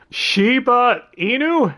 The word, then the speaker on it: Shiba Inu: She's a Shiba Inu?